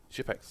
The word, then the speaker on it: Shipex: Maybe you should buy Shipex instead. What's this with Shipex? That's how you pronounce it. It's like Tipex with a J instead of a T.